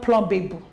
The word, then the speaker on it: plumbable: And the last of these derivative is P-L-U-M-B-A-B-L-E. It's not plumbable. It's plumbable. This one has a posyllabic consonant sound, bl.